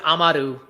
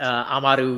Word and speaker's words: Amaru: So it is Amaru. You all have been doing very lovely at that. Amaru, you roll the R, very quickly.